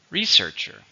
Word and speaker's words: researcher: it's a countable noun how many syllables researcher researcher 3 where is the stress second syllable researcher he works as a